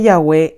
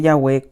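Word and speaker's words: Yahvé: páginas 16 y 18 que ya ve es la mejor pronunciación del tetra grama ton este libro ha sido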